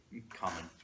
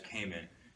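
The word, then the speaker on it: 仮面: Kamen. That's game. Americans say it as Kamen. Japanese people say Kamen.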